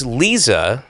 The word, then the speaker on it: Liza: but um and so so it's Lisa yeah but it's spelled l IA so wait have you